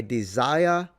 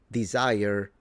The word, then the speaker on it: desire: I desire to greet. Did you notice that he didn't say desire, he said desire. This is what is normally called a nonrotic accent.